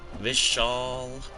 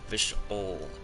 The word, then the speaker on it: Vishal: fully ascended um gary pronunciation of my name is almost correct but it's like vishal and not vishual and pronunciation vish al